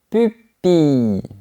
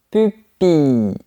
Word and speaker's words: pupille: Encore plus spécifique, la pupille. Tu fermes la bouche et après tu souris. Mais on n'entend pas la lettre L. La pupille.